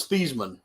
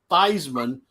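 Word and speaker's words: Theismann: for Washington Redskins right his name is thievesman but when he was wanting in college he was wanting to win the Heisman Trophy he started allowing uh everybody to pronounce it Theisman because it rhymed with Heisman um that is a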